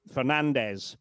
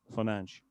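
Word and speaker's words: Fernandes: And um as I say, were he, you know, Spanish speaker, were he from Spain or from one of the Spanish-sp speaking countries in South America, then it would be Fernandez, but he's Portuguese and so his name is Fernanch.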